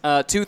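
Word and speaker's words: TWOth: Tell us a little bit about the team, Tooth Autosport. First of all, can you explain the name? It's spelled TWO, all capitals, and then lowercase th, pronounced tooth like what's in your mouth.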